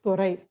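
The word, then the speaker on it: துரை: So in Tamil, Dorai is pronounced as Thorai.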